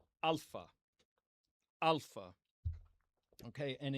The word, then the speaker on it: alpha: So we're going to start here with the first letter, alpha. Alpha. Okay. And in this pronunciation system, we're going to pronounce it ah. Ah. Okay. So alpha makes ah as in father.